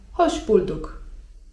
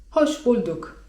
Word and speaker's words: hoş bulduk: I na to zawsze odpowiadamy: hoş bulduk (czyt. hosz bulduk) Dosłownie tłumacząc 'hoş geldin' oznacza: wspaniale, że przyszedłeś/przyszłaś.